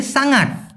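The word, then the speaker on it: sangat: আরেকটা আছে সাঙাট। এখানে অনেকে সাংট বলে। তবে সঠিক উচ্চারণটা সাঙাট। স দিয়ে সাঙাট।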